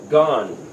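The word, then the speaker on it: גן: another example the word spelled gimel noon this is our letter G and N and again Hebrews read read right to left so it's pronounced gone that's actually word for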